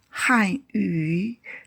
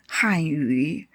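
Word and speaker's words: 汉语: Han yu, Chinese or Mandarin. Han yu.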